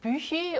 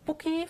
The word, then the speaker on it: Büchi: So the next one is called Büchi, also called Buki for people who can't pronounce Büchi. And I keep on going back and forth, excuse me, because I keep on working with people who can't pronounce it, so they say Buki, so I say Buki, but then I talk to my husband who says, this is Büchi. So I try to stick with Büchi.